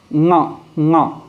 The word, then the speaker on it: ङ: तो हम इसका उच्चारण जो करेंगे वो क्या करेंगे, ङ।